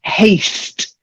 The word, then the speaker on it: haste: And haste. You've got to get the s in there because otherwise it sounds too much like hate.